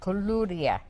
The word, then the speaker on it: koulouria: but I have a hard time with these pronunciations. These Bea. are easy. KOULOURIA.